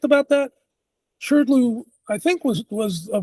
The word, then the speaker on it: SHRDLU: It's that uh that MIT program that I don't know how to pronounce, SHRDLU or SHUDLU? Yeah, SHRDLU.